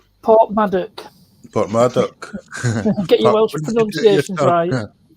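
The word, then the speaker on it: Porthmadog: I would have passed that going to Port Madog, wouldn't I? Port Maddock. Port Maddock. Get your Welsh What did you do pronunciations yourself?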